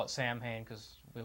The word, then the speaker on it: Samhain: just sounds better and Sam pain actually has other pronunciations at as Todd said salween that's also got was i guess be considered saw vin which i guess in some places the w and the v are kind of the same thing so